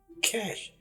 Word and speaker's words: cache: लफ्ज है कैश सी ए सी एच ई कैश ये देखिए इसको प्रोनाउंस करना है जिसे कैश बोलते हैं कैश